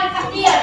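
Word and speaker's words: Le Chatelier: Bacanya Lactadier tadi.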